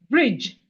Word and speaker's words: bridge: These three letters together, DGE says J. And we have it in what like bridge, brr. Bridge, brr.